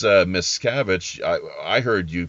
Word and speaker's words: Miscavige: Speaking of Scientology, the way that you pronounce the name, it was actually it's Miscavige. I heard you pronounce it Miscarriage, which to me makes total sense.